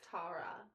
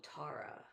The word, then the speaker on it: Tara: It's Tara. Oh, Tara. Which is so weird. That must be a Texan thing that we pronounce. With the A? Yeah. Tara? Mm-hmm. Hey, Tara. Yeah. And I was thinking, like, spelling, like, technically tear. Yeah. Technically spelled would be T-E-A-R.